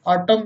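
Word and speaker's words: autumn: यदि एन अंत में एम के बाद आए, यदि अंत में एम के बाद एन आता है तो प्राय साइलेंट रहता है। जैसे ऑटम मीन्स पतझड़, हिम मीन्स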